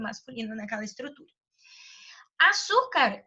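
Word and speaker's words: azúcar: Diferentemente de arte, a palavra açúcar nem entraria na regra de eufonia, porque a minha sílaba tônica ali não é o A, é o SU, né?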